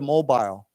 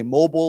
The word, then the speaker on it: mobile: Okay, I think you can say mobile or mobile. That word can be pronounced with a long I or short, mobile or mobile. Either way is okay.